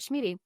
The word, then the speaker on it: Schmieding: Bear, you're Schmieding, rhymes with meeting.